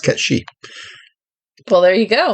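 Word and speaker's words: Cait Sith: a gaelic name oh yeah spell case it's pronounced cat sheep well there you go it's kind of like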